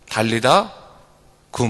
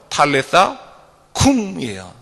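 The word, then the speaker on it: Talitha koum: 달리다 굼 말하죠. 그렇죠? 원래 조금 이 아람어인데 아람어에 가까운 발음은 탈리타 쿰이에요.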